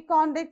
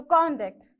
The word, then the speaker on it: conduct: certificate okay conduct certificate so conduct how do you pronounce you stress on this conduct okay that shows the certificate contact certificate whereas when you use the same word as verb how do you pronounce so you say tomorrow i will conduct exam okay i'm going to conduct a test tomorrow so how do you use it is a verb so your examination will be conducted okay so you have to stress on the second syllable